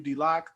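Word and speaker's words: Deloch: out on instagram matthew d lock that is pronounced um d-e-l-o-c-h i was contemplating with the lodge or d-lock but um i did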